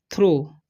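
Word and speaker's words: through: थ्रो, इसे पढ़ते हैं हम लोग थ्रो, ठीक है। GH का कोई उच्चारण नहीं होता है, ठीक है। तो TH से हो जाएगा थ, और RO का हो जाएगा थ्रो, ठीक है। और GH यहाँ पर साइलेंट हो गया था, थ्रो पढ़ते हैं।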